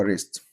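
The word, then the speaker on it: wrist: نعظم اليد اللي هو ريست ريست عندنا يغلف راب خطا رونج عندنا غطاء اللي هو ايه او الغلاف ريبيبر او ريبر طبعا حرف الدبليو عشان بعديه ار لا ينطق طيب نكمل عندنا في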